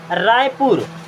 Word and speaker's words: रायपुर: रायपुर, RAIPUR, मैंने यहाँ PU को देख रहे हैं, PU तो क्या हो जाएगा?